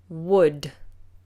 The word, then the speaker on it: would: The L is silent. So ignore the L. Ignore the vowels. Just imagine a U.